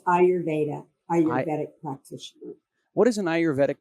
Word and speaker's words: Ayurvedic: The first thing I have to ask is, how do I pronounce? Is it Ayurvedic practitioner? It's Ayurvedic practitioner.